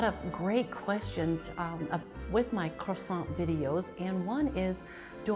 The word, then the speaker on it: croissant: Americans, croissants. And in France, it would not be, you could order a croissant and they'll probably give it to you, but the proper pronunciation, the French way, is croissant.